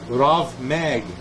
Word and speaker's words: rav mag: chief Authority among the Magi was called the rav mag okay it says RAB mag but it's pronounced wrath r-a-v Meg okay mag short for